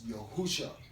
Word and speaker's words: Yahusha: His name is spelled Yahusha. It's not none of these other names. It's Yahusha.